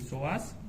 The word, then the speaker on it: psoas: Psoas se escribe con una P adelante, psoas.